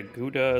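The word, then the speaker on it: Gouda: I I mostly yeah guda is a good one it's always funny to me how that's pronounced in English by the way in Germany you say GAA GA mozzarella cheese I like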